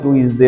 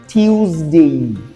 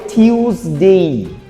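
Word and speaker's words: Tuesday: তো এটাকে কেউ কেউ বলে টুইসডে বলে আরো কেউ কেউ কিছু বলে আর কি। এটার উচ্চারণ হবে টিউসডে। উচ্চারণ হবে টিউসডে। টুইসডেও না আর টুইসডেও না হবে টিউসডে।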